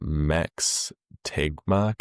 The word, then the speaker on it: Max Tegmark: Uh it's Max Tegmark. Is that how you pronounce his name?